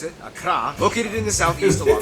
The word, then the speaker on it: Accra: course, the capital, Accra, Tamale. yes, that's how you pronounce it, Accra, located in the southeast along the coast.